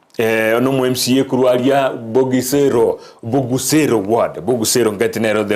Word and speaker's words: Bogusero: mheshimiwa Vincent Abuga ono MCA kuruaria Bogusero ward Bogusero ngatinero the right pronunciation nigere kitutu chache south na niga ikirese